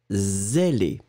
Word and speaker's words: zélé: Le deuxième, zélé. C'est véritablement la différence entre le ce qui est très très fort et le ze.